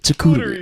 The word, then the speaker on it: charcuterie: Fuck it, charcuterie. That's it. That's how you say it.